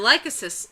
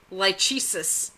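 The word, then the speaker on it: Lachesis: Now, I'll tell you, Lycosis, Liliana used to pronounce, like, when she'd just see it written down, she'd say, Lychesis. Do you remember that? I don't know. I had written Lychesis? I had written a fan fiction. Uh-huh. And you were looking over it, reading it, and you're like, what is that? Lychesis? Oh, I know, it's Lycosis. It's one of the fates.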